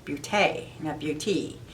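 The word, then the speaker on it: beauté: above e so it's butay yeah it's the french pronunciation it'd be fancy has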